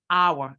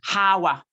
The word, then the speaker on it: hour: the age is silent you do not pronounce the h in that word hour it is not Hawa okay you do not